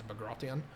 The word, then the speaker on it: Bagration: What happens in the Eastern Front is what we call Operation Bagration or Bagration. No one's quite sure how to pronounce that. I believe that the technical term in Russian is Bagration.